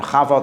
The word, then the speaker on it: Chava: Chava Eve, because if you can't pronounce the Cha, you say Ava or Eva, and then it looks like EVE, and it becomes Eve.